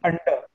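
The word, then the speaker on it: अंडे: Though there is a dot above the it is not nasal sound. It is just indicates that we need to elongate that last one.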